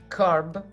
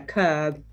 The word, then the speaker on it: curb: the dictionary to carb how do you think we pronounce it carb yeah almost yeah curb so to curb is